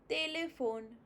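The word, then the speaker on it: téléphone: For example, tele. Not tele. Tele. Telephone. Te, because H is silent, so you don't say it the. It's te. Tele.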